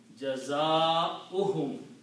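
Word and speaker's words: جزاؤهم: If you stretch this, it will become the sound of waw. Waw is just sitting there, helping this hamza to sit on a chair. Okay? So that is the way it is in the Quran. Jaza'uhum. Okay? Waw should not be recited.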